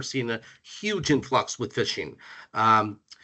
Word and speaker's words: phishing: For those who don't know what fishing is, it's spelled ph I s P ph h i s h i n g. So similar to fishing is if like you're trying to reel in a fish, but it is a